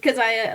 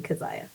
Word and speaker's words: Keziah: I if I can now go to you Kaziah can you introduce yourself and tell me a little bit about your focus etc.